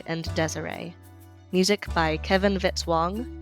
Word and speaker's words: Vitz-Wong: Music by Kevin Vitale, rhymes with hit song.